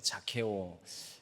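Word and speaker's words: Zacchaeus: 사게오의 이름은 사게오, 자케오.이 이 영어로는 사실 사케오가 제로 시작을 합니다. 그래서 자케오 이렇게 발음하게 되는데요.이 자케오라는이 말의 어근이 되는 히브리어 단어가 있습니다.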